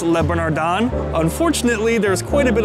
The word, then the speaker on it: Le Bernardin: eating at Le bernardon I believe it's pronounced Le bernardon unfortunately there's quite a